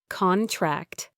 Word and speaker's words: contract: Stress on the first syllable, noun, an agreement, versus contract. Stress on the second syllable, verb, to shrink or get smaller. We signed a new contract. The muscles will contract.